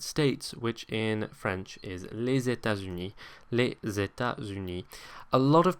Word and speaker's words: États-Unis: Number one, it's not pronounced as an S, it's pronounced more like a Z, les États-Unis. And secondly, notice where it is in the word, okay? The S kind of moves over to the next syllable. So it's not les États-Unis, but les États-Unis, okay?